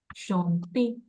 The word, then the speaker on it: chanter: Now, one more tip when it comes to pronunciation. All the ER verbs, the name of the verb will end with A. Chanter, aimer, habiter, préférer, jouer, regarder. You got it? The ER is supposed to be sounded as A.